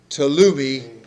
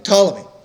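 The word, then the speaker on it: Ptolemy: Um and then the the general from the south is even harder to pronounce because the P is silent. Tumi. Tumi. I think Tammy. Tammy. Tommy.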